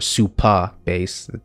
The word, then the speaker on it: Supabase: are two big differences between super bass or super bass that's how it's pronounced no er and firebase first of which